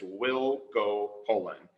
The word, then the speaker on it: Wielgopolan: the same way and how to pronounce my name but it will go poland so it's like we'll go fishing but we'll go poland and i joke if